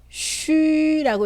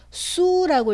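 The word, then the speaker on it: xu: 그럼 어떻게 읽을까요? 그렇죠. 쉬라고 읽어야겠죠. 수라고 읽으면 틀린 발음이 됩니다.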